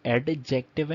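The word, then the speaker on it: adjective: इन थे अट्रैक्टिव अच्छा इसको लिखते एडजेक्टिव यानि से जिंक लिखते हैं लेकिन पड़ते हैं अर्जेंट यानि डी को साइलेंट कर देते हैं ठीक है अर्जेंट अर्जेंट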